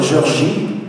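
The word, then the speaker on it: Géorgie: C'est un plaisir d'être à Clarkesville, Georgie. Because that's how you say it in French.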